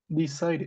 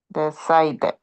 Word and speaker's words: decided: Decided. Decide. Decided. Decided. Decided. Decided. Decided. Exactly. Decided or decided. But you have to pronounce the last E.